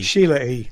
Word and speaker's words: Sheila E.: He got, is it Sheena E? Is that how you say it? Is it Sheila E or Sheena E? Sheila E.